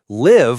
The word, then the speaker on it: live: Live like I live in Canada, and leave like I'm going to leave the house. One tiny vowel sound, totally different meaning.